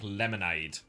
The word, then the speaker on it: Lemonade: well I'm being told it's actually more like more like lemonade for Aid not ad but Aid well I pronounced Burna